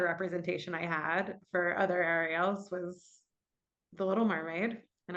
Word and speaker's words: Ariel: And for a long time, I said, it's Ariel. And they couldn't do it. And then I would try to say, it's A like an apple.